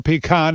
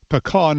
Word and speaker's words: pecan: Trying to agree on a pronunciation for pecan, as we say in the Northeast, or pecan, as some say, can make you nutty.